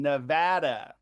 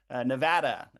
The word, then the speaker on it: Nevada: calling folks in Nevada tonight, and note the pronunciation, Nevada. If you know folks from Nevada, it's important to say that, not Nevada or Nevada. Nevada is how you pronounce it for folks calling there.